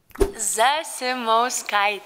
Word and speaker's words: Zasimauskaitė: over her explaining how to say her name Zumot sky there you go now look I'm gonna keep